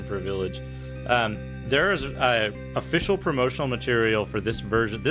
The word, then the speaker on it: Ys: to it as Y''S, which I'm pretty sure would be pronounced wise. But I'll pronounce it as Is for this, because that's how it's written on the actual CD cover.